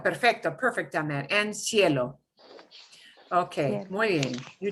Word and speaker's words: cielo: And cielo.